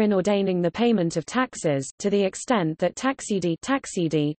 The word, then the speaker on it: Taxe: Tax, pronounced tax a, is a German word meaning tax, charge, or scale of charges.